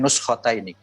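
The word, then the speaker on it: نسختين: Itu bacanya nuskhotaini.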